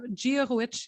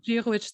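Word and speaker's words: Dia dhuit: Giahuich is how you say good morning or good day. Jewish? Giahuich. Jewish. So Giahuich, that's right.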